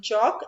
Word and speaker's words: chalk: And then chalk. L is silent.